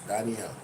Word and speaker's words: Danielle: It's a lady, you know, so it's not Daniel, it's Daniel. Daniel Archer. LLE at the end. So it's DANIELLE.